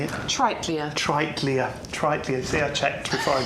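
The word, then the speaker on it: Triteleia: Tritlia.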